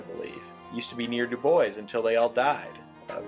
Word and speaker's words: Dubois: the nearby town of Dubois yes that's how they pronounce it Dubois is a cool little